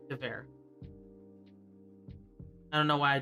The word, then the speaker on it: Gewehr: Gewehr. I don't know why I did that. Butchered it. Pronounce the W as a V.